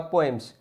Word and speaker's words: poems: अभी जो पोएम्स है इसका प्रोनाउंसिएशन पोम और पोएम्स दोनों ही ठीक है. पहला वाला ब्रिटिश है, सेकंड वन इज अमेरिकन.